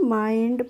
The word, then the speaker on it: mind: माइंड पढ़ते हैं।